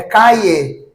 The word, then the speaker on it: calle: Né, principalmente em Buenos Aires, os portenhos, eles falam calle, olha só, não é com som de G, não é nem J, calle.